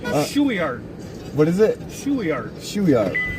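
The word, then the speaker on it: Shueyart: Shueyard. What is it? Shueyard. Shueyard. And that's, how's it spelled? S-H-U-E-Y-A-R-T. Shueyard. Okay. My name's Shuey, but I do it backwards.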